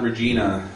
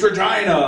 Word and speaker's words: Regina: He was like, "It's Regina," and I was like, "Whoa!" I didn't spit on Regina. I just said it wrong.